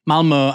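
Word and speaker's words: Malmö: and from The River To The Sea now Malmo has been and by the way that is how you pronounce it has been the site of several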